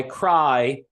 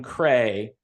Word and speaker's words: Creye: Spreading Fire by Cry. I used to call them Cray. You spell it Creye, and that's where they get Cry.